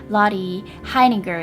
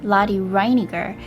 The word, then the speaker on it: Lotte Reiniger: about a pioneer filmmaker lottie heineger if you pronounce it in german way or lottie reiniger who invented silhouette films